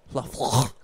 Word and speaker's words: Lafleur: Lafleur. You know, that's where, how you say it in Canada, I believe. Yeah, in French Canadian.